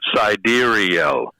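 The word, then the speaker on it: Sideræl: And then I'm told that cedarial is is pronounced cidurial.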